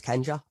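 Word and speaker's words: 賢者: wise man means in japanese and it means kenja that is how you pronounce wise man yeah yeah so what i've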